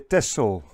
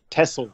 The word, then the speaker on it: Texel: to taken yeah pronunciation most people in the Netherlands say a tesol Tesla yeah just like in Greece